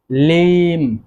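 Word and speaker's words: limb: তারপর যেটি রয়েছে সেটি হচ্ছে লিম, লিম। দেখুন এখানে বি এর উচ্চারণ কিন্তু হচ্ছে না।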